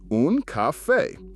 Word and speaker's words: caffè: Pronounce it un caffè.